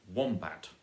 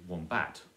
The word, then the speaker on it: wombat: quite naturally for example you say wombat and you don't say one bat if you were shouting the word across the street or if you were angrily saying the word warm that then you would say one bat with all of the stress on the first syllable Robin st. wombat which would sound simply wrong to a native English speaker and the way we